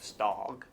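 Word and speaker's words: Stogg: And obviously, like if you look at the name of Stog, it rhymes with right there. Dog.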